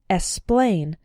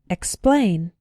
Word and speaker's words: explain: x is pronounced pronounced be careful in words like explain to include the k sound sometimes students pronounce it like esplain but that's not correct it should be expain explain the other way to